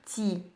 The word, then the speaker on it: ti: peut introduire le temps il va se dire ti j'ai mis entre entre les crochets la prononciation parce qu'on tire un peu lu i en disant c'est pâtit mais c'est ti ti ti vous voyez ce sont